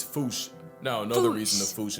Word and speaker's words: fossa: while England pronounces it as fossa.